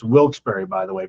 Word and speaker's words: Wilkes-Barre: Ticket ticket master is Friday night at Smackdown, December 12th, Moheaggan Arena in It's Wilsbury, by the way. People will tell you to pronounce different ways. Wils Barrow, you're a Disney person, right?